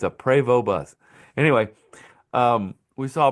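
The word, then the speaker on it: Prevost: We noticed there was a PO bus. And for those who don't know how to pronounce it, it's PO. Not Post, not Post, not Po.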